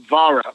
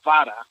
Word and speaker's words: Vara: Well, really pronounce it Vara. You gotta. It's a Spanish. Vara. Yeah, Vara. You said it perfect. Not many people could do that. It's almost like you gotta make like a T sound almost with the R. Yeah, you gotta roll your R. I speak Greek. You gotta. There you go. There you go. You gotta roll the R.